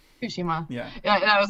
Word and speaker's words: Tsushima: Tsushima? Tsushima.